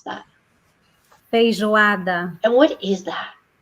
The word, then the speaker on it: Feijoada: How do you pronounce that? Feijoada.